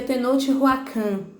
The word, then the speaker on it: Tenochtitlan: Mas ele se pronuncia Tenochtitlan.